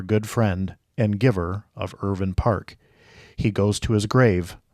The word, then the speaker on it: Irvine: So, are you ready to take the Irvin Park Challenge with me?